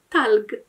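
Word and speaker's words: ثلج: to jako g, więc zamiast talcz, będziemy mieli talg. Nie tylko wymowa różni się w dialekcie egipskim, ale też pisownia.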